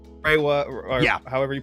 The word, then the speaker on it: Reiwa: So like there's the Showa era, like Reiwa, or however you pronounce it. Reiwa, you got it.